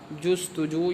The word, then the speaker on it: جستجو: اس کو آپ پہلے یاد کر لیجئے، امداد جستجو، یہ صحیح تلفظ ہے، امداد جستجو، صاحب عاجز، عز و